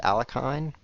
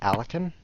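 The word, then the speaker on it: Alekhine: about alakin defense did you know it's not pronounced alakin it's pronounced alakin and did you know he died of drinking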